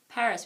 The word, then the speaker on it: Paris: s KOMO in Paris Paris we don't pronounce the S and don't forget this